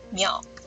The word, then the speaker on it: 秒: 秒，秒，声调第三声